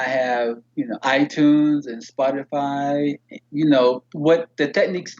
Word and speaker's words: Spotify: you can download it on itunes and spotify spotify yes yes that's how you pronounce it because i have friends that are